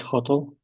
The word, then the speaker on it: hotel: Great hotel. Aha. Second syllable stressed. not hotel, but second syllable is stressed.